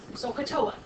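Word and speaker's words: SOH CAH TOA: Say that phonetically. Sokotoa. Okay? Kind of sounds like an Indian, a cool Indian name, doesn't it?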